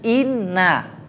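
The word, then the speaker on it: إِنَّ: Enggak mungkin ini adalah amil nasab. Pasti bacanya inna. Enggak mungkin baca in.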